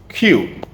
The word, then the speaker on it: queue: The word is queue. Almost the same way as we pronounce Q. Not even almost. I think it's exactly the same way you pronounce the word Q.